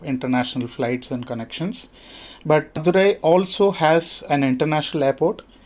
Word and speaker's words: Madurai: So you started us in Madurai. Am I pronouncing that correctly? Yes, Madurai, yeah, correct.